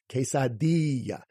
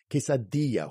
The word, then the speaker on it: quesadilla: of it alright so that I at the end of it quesadilla quesadilla why because that I makes the e sound you're also going to